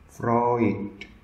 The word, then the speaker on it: Freud: Saya ulangi cara membunyikan namanya, Freud, dan yang satunya lagi Jung. Di antara dua tokoh ini, saya pribadi punya ketertarikan pada Jung. Kenapa? Pemahamannya sebagian besar terhubung dengan Freud, tapi dia lebih dalam lagi.